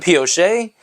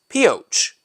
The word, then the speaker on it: Pioche: attached to this land, albeit not pronounced even remotely in a French way anymore. Instead of Pioche, it is now pronounced Pioche.